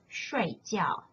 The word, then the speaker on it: 睡觉: When pronounced as 水饺 in the left-hand side, it means dumplings, a traditional Chinese food. When you change the tones into the fourth tone as in the right-hand side, the word is pronounced as 睡觉. Then it means to sleep.